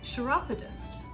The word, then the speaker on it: chiropodist: a i don't know this word chiropodist iropotis spell it c-h-i-r-o-p-o-d-i-s-t sharapodist a sharapotis the hell is a shirt that's